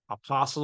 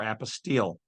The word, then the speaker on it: apostille: They will only, depending on how you want to pronounce the word, apostle or apostille, which means to be brought into their jurisdiction.